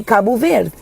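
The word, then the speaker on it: Cabo Verde: And if I'm going to say kabu ver I will say kabu ver. I'm not going to be like kabu ver like the what are we doing with the d. It's kabu ver.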